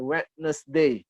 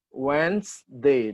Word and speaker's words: Wednesday: Monday Tuesday Wednesday nah remember ini bacanya bukan Wednesday ya bukan ya bacanya wellday yasood Hai dua kali ya weinstein bukan Wednesday ya when they dua kali bacanya kedai Friday Saturday